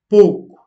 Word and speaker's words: pouco: retrouve O, O, ou, prononcé comme une diphtongue uniquement dans la prononciation du Nord. Donc, au nord du Portugal, contrairement à d'autres régions du pays, euh, ce mot, pouco, est prononcé comme une diphtongue, pouco.